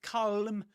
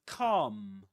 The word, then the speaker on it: calm: The L is silent. You don't say calm, but calm. like the like Oasis song.